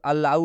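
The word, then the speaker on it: allow: डल एल ओ डब् rule क्या कह रहा है कि जब भी ओ के बाद से डब्लू आए तो ओ का उच्चारण ओ से हो रहा है लेकिन यहां पर आप देख सकते हैं ए डल एल ओ डब्लू यहां पर अलाउ हो रहा है ओ की मात्रा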